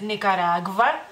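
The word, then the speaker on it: Nikaragva: la misma regla básicamente en lituano es Nicaragua Nicaragua es decir con la v y es en femenino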